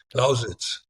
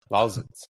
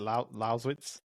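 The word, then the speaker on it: Lausitz: No, Americans can't pronounce it. Lousits. Lousits. Oh, you got it. What was it? Laitz like that.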